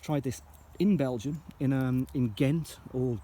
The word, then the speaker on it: Ghent: this in Belgium in Ghent or how the locals pronounce it hint and it's a storming